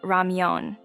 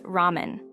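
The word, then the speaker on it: ramyeon: of the noodles uses the term Ramon which is the Korean pronunciation instead of the Japanese ramen and features Korean characters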